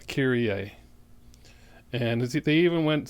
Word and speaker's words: Kyrie: mister released their single kyrie a i'm going to clear that up kyrie a right you look at that title and you're like kiri you figured it's called kiri right uh kyrie a and they even